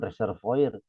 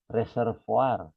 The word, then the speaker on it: reservoir: Nah, itu kalau saya dengar orang asing mah ya bacanya itu bukan reservoir. Reservoar.